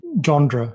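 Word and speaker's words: Le Gendre: and this General um how how would you pronounce his name again I'd say jandre okay so what's interesting about him is he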